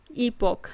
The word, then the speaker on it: epoch: Sidhi pronunciation ईपॉक।